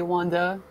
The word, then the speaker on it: Wanda: is it wanda well i think we really would stress the second a it would be wanda wanda there's no r it's really the r